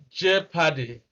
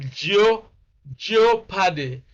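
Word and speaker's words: jeopardy: the short a sound j paddy all right the same sound you have in sets in bed in head in egg j paddy of course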